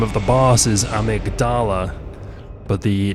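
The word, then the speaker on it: Amygdala: of the boss is amigdala but the name of the part of the brain is the amydala slightly different pronunciation there and here we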